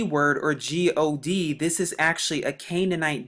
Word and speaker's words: Gad: now they pronounce the gad but it's actually pronounced as g-a-w-d or what's commonly known as god and as you can